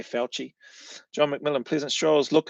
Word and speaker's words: Fauci: Yeah, but it's spelt like Faucci or something, eh? But I think it's pronounced like what you've got there, Fauci.